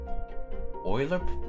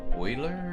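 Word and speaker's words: Euler: Uh, is it I don't know if I'm pronouncing it right. Grungy uh Oiler equations.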